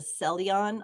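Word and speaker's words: Ceylon: I personally like the selon. I think that's how you say it.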